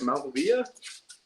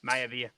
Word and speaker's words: Maivia: Malvia? Maivia.